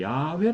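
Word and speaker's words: 야훼: 혹은 이제 또 2 여호와는 원래 드 정확한 발음은 야외 라 그렇죠 그래서 이어 혹은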